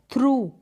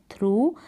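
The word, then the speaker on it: through: में से होकर गुजरना तो थ्रू ये प्रनंसीएशन है थ्रू यहां पर बड़े यू के रूप में ओ यू जी ह को आपने प्रणाम किया थ्रू की स्पेलिंग में नेक्स्ट चलते हैं इसके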